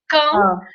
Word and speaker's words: Caen: Se escreve Caen, mas a gente fala Cannes.